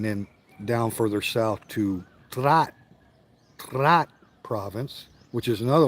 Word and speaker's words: Trat: English you spell it t r a t like TR but it's actually a DT Blended consonant right so you put the D and the T together it's right so trat